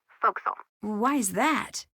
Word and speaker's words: forecastle: ship but it's pronounced fo'c'sle why is that try pronouncing it like an English sailor with no formal education Oh Castle fo'c'sle over